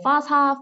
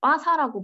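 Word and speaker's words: FASAH: 플랫폼이 바로 화사 시스템인데요 뭐 파사 빠샤 빠세로 다양하게 발음을 하는데 저희 사우디 동료 직원들이 빠사라고 발음을 하더라고요 저는 빠사로 안내를 드리도록 하겠습니다 빠사가 식약처에서 주관하는 플랫폼이기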